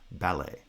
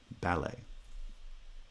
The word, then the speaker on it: ballet: i will mention uh the word ballet is pronounced this way in north america in british english they tend to pronounce that word as a bi-syllabic foot and therefore it would sound more like a pity ballet ballet but i've included it